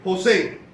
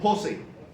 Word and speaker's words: José: Y algunos otros hermanos, nosotros pronunciamos mi nombre José. Hay otros hermanos, otras personas de otros países que cambian el acento y dicen José.